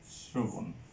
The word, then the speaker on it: শ্রবণ: তারপরে শ্রবণ, এটার উচ্চারণটা হবে শ্রবণ।